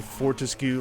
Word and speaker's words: Fortesque: Which, like, if you Google Fortescue, like how to pronounce it, I guess Fortesque might technically be it.